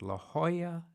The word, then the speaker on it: La Jolla: in a place called la jolla california oh it seems so exotic to me they didn't even pronounce j the way we did in talladega and i was an